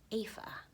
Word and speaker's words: Aoife: I don't know if you guys know, but that name right there, that looks like Aofi or Aof, is actually pronounced Aoife. Or Aoife. Now I forget. Pretty sure it's Aoife. Yeah, it's Aoife. It's Aoife. In the Irish language.